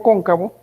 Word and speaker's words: cóncavo: Continuando entonces ahora con el espejo cóncavo, vamos a hacer prácticamente lo mismo. Entonces voy a incidir sobre ese espejo cóncavo, lleva acento en la O, ¿verdad? Cóncavo. ¿Dónde lleva en este caso cóncavo acento, ingenieros?